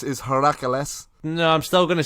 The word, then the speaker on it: Heracles: Is that how you pronounce that? Hippocrates? Yeah. It's apart from not a hippopotamus. Yeah. Hercules is Heracles.